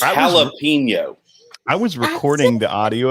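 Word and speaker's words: jalapeño: jalapeno yeah you say which is it it's jalapeno i was recording the audio of this but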